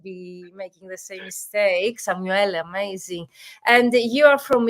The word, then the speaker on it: Samuele: And today we have, as you see here, Samuele. Am I pronouncing correct your name, Samuel? It's Samuele with the E at the end, but Samuele, okay.